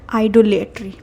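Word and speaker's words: idolatry: आइडोलेटरी। आइडोलेटरी बट हमने याद किया है स्पेलिंग को कैसे?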